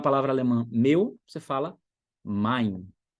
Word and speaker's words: mein: Um exemplo bem simples aqui, para você falar a palavra alemã meu, você fala mein. Mein, tem E e tem I aí, então sou como I. Mein.